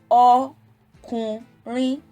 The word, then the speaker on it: ọkùnrin: Now, ọkùnrin, ọkùnrin. There are 3 syllables, so 3 accents will be applicable.